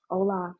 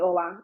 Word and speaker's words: Ola: He's like, "Hola." cuz you know they don't know how to say my name properly. They just I tell everybody call me Ola.